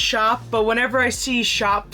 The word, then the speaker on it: Shoppe: It is the Make Shoppie mosaic suncatcher kit. Now I know it's pronounced shop but whenever I see shop spelled like that I my brain just goes shoppie.